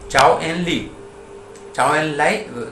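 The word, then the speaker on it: Zhou Enlai: जब नेहरू था यहाँ पे, तब वो आता है वहां से, चाइनीज प्रीमियर आया था जब पहली बार, चाओ एन लाई था उसका, प्रोनाउंसिएशन है उसका।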